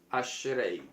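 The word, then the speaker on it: אשרי: de diferente manera y es la pal asre ashrei vamos a escribir la pronunciación aquí eh Muchas han sido las formas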